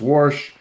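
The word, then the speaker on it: Warsh: and then you got Kevin Worsh, I think you'd pronounce his name. Worsh, like my grandmother used to pronounce doing the laundry.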